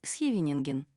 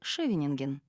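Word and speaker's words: Scheveningen: с НН название города когда его говорил голландец слышалось схевенинген тогда как немец произносил шевинг у англичан были собственные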